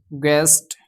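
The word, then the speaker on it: guest: जैसे यहाँ पे गॉड, गैस, गेस्ट, गिल्ड। तो इन जगह पे जो है यू आपका साइलेंट रहेगा।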